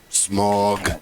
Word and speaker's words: Smaug: You know the Smaug from The Hobbit. Keenan Wynn. No. How is it pronounced?